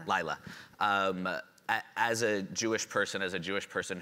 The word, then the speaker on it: Lyla: I want to make sure I pronounce her name right. Lyla.